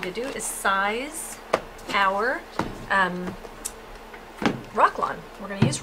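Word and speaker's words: Roc-lon: do is size our rock lawn. We're going to use rock lawn. Rock lawn is spelled R-O-C-L-O-N, and it is available on the website.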